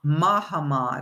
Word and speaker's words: Mahamad: So, in 1658, the Maha the Mahamad, it's not Muhammad, it's pronounced differently, Ma- Mahamad, I should say, decided